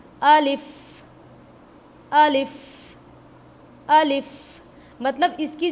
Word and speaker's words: alif: अभी एक चीज़ का और भी ध्यान रखना है हमें, देखिए जब हम प्रोनाउंस कर रहे हैं अलिफ अलिफ अलिफ अलिफ, तो जो